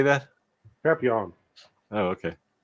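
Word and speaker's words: Papillion: Papillon.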